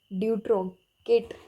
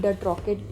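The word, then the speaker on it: Dutrochet: Option D ड्यूट्रोकेट या फिर डट्रॉकेट, आप जैसे मर्जी इसको प्रोनाउंस कर सकते हैं।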